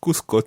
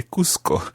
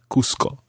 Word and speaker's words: Cusco: much more normal in Cuzco to say Cusco. So that's why there's a little bit of confusion there. But Cuzco in Spanish pronunciation, but in Peru, it would be called Cusco.